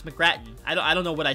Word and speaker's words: McGrattan: arnot i didn't say his name is it's mcgrattan i don't know what i said but i'm